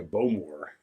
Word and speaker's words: Bowmore: You're supposed to emphasize the more. Bowmore. More on the more.